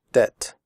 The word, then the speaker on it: debt: In the word debt, the b is silent. We do not say debt. We say debt.